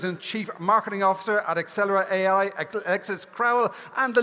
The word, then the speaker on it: Axelera: So right now we are going to welcome our dear friends from Axelera AI. It's easy to remember how to pronounce it. It sounds like accelerate.